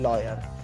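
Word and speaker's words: lawyer: लॉयर। यहां पे डब्ल्यू आपका क्या है? साइलेंट क्या है? साइलेंट है।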